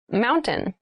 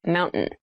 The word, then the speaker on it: mountain: top keep in mind when you pronounce this word in fast speech it sounds like mountain the t sound is reduced the little town was